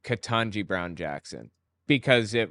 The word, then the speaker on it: Ketanji: calling her Jumanji because her name's katangi and katangi rhymes with jamanji and jamanji was a